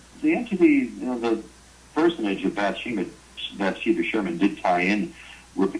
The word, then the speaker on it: Bathsheba Sherman: by, I know I'm going to get this name wrong, Bathsheba Sherman.